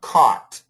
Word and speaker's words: caught: c okay that's better before you it sounded like coat c o a t but get that a w sound caught caught you've caught your mother